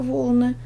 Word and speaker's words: волны: просто спишем волны волна у нас в первом слове ударение падает на первый слог волны во втором на второй слог волна И мы стрелочкой